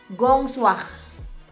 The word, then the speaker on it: Grand Soir: Cara bacanya adalah Gong Soir. Gong Soir, tulisannya Grand Soir.